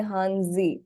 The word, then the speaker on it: hanzi: pronunciation is so different Chinese say hanzi the Japanese have taken all Liberty and change them to the way they understand it best which is Kani so it by no